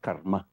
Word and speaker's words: karma: The pronunciation pala is not karma. It's karma.